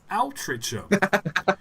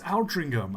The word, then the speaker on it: Aldringham: And like that, it's like, no, it's Aldringham.